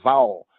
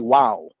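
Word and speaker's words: Waw: us here to what, if you're reading it from a Western Gentile, Anglo-American perspective, you might see this as vowel, as vol, or something like that. But if you read it from the original translator's perspective, it'll be wow, wow, wow.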